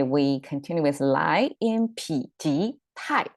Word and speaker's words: 否: about this Turning Point okay normally this word pronounced as faux which means negation like if you want to